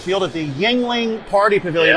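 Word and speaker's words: Yuengling: right field at the yangling party pavilion i always struggle to say that word properly how do you say it yingling he's good well he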